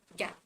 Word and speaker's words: GAAP: also called gaap but when we talk about how we spell it out when we are talking about it the pronunciation comes out to be gap uh generally accepted accounting